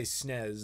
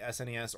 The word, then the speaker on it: SNES: you say SNES well I don't say snez that's very European thing to do I say SNES or Super Nintendo depends if it's